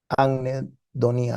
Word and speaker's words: anhedonía: Anhedonía, así es, se pronuncia así, anhedonía.